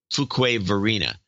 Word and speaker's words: Fuquay-Varina: I think that's how you pronounce it. Or Fuqua. No, it's Fuqua. Fuquay. It's got to be Fuquay. Fuquay-Varina. Here in the free state of North Carolina.